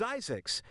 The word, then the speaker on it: Zzyzx: the one Lisak Zzyzx I'm guessing actually it's pronounced as Isaac's name by a man named Curtis Springer who